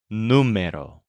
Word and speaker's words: número: you'll use the word numero which means number this is spelled n u m e r o but with an accent mark on the U numo for example there were